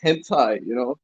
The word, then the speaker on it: hentai: It's pronounced hentai. It's hentai.